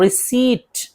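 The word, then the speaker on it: receipt: इसी तरह रिसीट, रिसीट पीटी है लेकिन पी को नहीं पढ़ रहे हैं, रसीद पर्ची।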